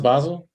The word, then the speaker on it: Basel: was just there in Miami uh for our Basel yeah literally like a month that's a big deal yeah we that's pronounced Basel Basel huh I didn't know that yeah yeah me